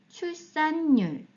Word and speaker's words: 출산율: 점유율, 점유율, 참여율, 참여율, 범죄율, 범죄율, 구매율, 구매율, 판매율, 판매율, 출산율, 출산율, 비만율, 비만율, 차단율, 차단율, 흡연율, 흡연율. 자, 여기까지는 발음이 그대로 율로 발음이 되었고요. 여기에서는 연음 때문에 출산율 등 니은이 발음이 돼서 율로 발음이 되었습니다.